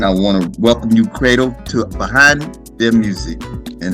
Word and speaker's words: Credle: Yeah, so guys, again, my name is Cradle. Now, I know it's pronounced like an A, but it's spelled Credle.